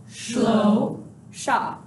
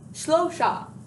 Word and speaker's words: Shlosha: Now, there's a specific syllable in here that I think can get a little bit crazy. Shlosha. It's kind of a funny word. It's gotta love that shh sound.